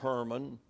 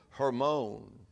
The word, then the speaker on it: Hermon: Carmel it's it's Mount carel it's not Mount Herman it's mount hermone it's not aquil AC Aquilla it's Aquila Aquila